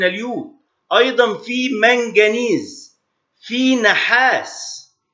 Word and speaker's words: نحاس: أيضا في منجنيز، في نحاس، والنحاس باللغة العربية ينطق نحاس، في ناس بتقول النحاس، في عنصر نحاس هو معلوش شدة اسمه نحاس.